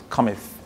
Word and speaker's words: cometh: there are words like comes but it's two syllables actually like Rob said cometh even fleas fleas this